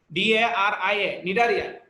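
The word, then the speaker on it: Cnidaria: নিডারিয়া জিনিসটা হলো তোমার সি দিয়ে শুরু, CNI, হ্যাঁ, বানানটা হচ্ছে CNIDIA, নিডারিয়া।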